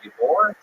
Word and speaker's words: Ybor: Ybor? Ybor.